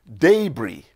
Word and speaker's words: debris: let's start with i d-e-b-r-i-s that is d e b r i s it is pronounced as debris yes debris that's the british rendition of it the americans call it debris debris i expect you